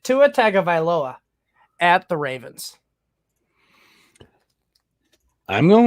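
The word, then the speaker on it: Tua Tagovailoa: against the Saints or Tua tago oh man I butchered it Tua taga at the Ravens I'm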